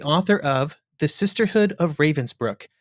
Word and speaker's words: Ravensbrück: It's pronounced Robinsbrook by the Germans and that's the German I use the German pronunciation.